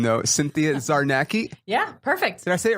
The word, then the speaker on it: Czarnecki: __ ] up your last name though Cynthia Czarnecki yeah perfect that's it right perfect look at